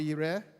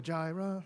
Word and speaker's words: Yireh: In Hebrew, it's Yahweh Yireh. Have you heard of Jehovah Jireh, my provider? Right? That song, it is the old version of actually pronouncing this, but this is probably the new Hebrew scholars' way of pronouncing this language.